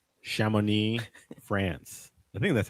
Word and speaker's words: Chamonix: Chamonix, France. Chamonix. I'm sure that's 100% That is correct. I didn't trick you, so I get the point. I'm catching up. Chamonix, France.